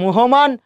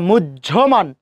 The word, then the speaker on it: মুহ্যমান: উচ্চারণ কি মুহমান না মুহ্যমান?